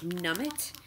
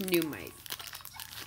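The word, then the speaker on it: Nuummite: I also picked up a numite, which continually throws me off because the spelling of it reminds me of like nummit, but it's pronounced numite.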